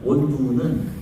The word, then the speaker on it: 원두우: 원두우는 언더우드의 한국식 발음이고 언더우드 선교사님의 한국 이름이 원두우입니다.